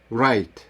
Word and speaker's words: write: ці слова Не прочитати Отже коли літера w стоїть перед літерою а вона не вимовляється про те що вимовити ми складаємо рот так як би ми вимовляли www і тоді ми читаємо правильно write Wrong реп запам'ятайте це обов'язково